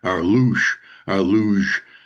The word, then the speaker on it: Loosh: that feed off of our luge, kind of pronounced like the sled, the fast sled, single sled luge, but it's spelled Loosh, and that gets released